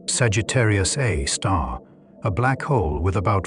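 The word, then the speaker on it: Sagittarius A*: At the center of the Milky Way is Sagittarius A, pronounced Sagittarius A star, a black hole with about 4 million solar masses.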